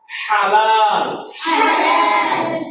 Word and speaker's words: হালাল: এটা বিদেশি শব্দ, এতে বিদেশি যেভাবে উচ্চারণ করে সেভাবেই বলতে হবে। হালাল।